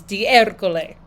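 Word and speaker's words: D'Ercole: The authentic Italian pronunciation is Di Ercole.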